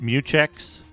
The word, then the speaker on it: mutex: use a regular mutex it should be meex right it's pronounced meex so create a level